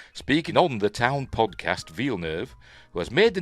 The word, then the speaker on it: Villeneuve: Direct Denny V nerve uh V nerve not villu as I've heard some people pronounce it V nerve explains why